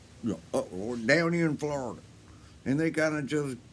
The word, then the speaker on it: Florida: between the two the florida f-l-a-r-d-a in florida there's florida people who just kind of say replace the o part with an a and yet they go ahead and make it a three-syllable word and that would be